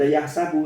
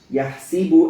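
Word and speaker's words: يَحْسِبُ: Yahsabunya bukan dibaca yahsabu tapi bikasri sin. Yahsibu anna malahu akhlada.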